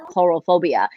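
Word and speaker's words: coulrophobia: yeah so it's spell c-o-u-l-c-o-u-l so but it's pronounced coral phobia and people definitely have like it's a debilitating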